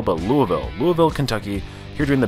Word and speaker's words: Louisville: I've heard that is the proper pronunciation, not Louisville, but Louisville.